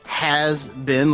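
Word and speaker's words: Hazbin: I've always pronounced it as has been, like a has been. That's because this is how it's supposed to be pronounced.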